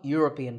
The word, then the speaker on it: European: number eight is similar the word European starts with a year sound so a European tour in number nine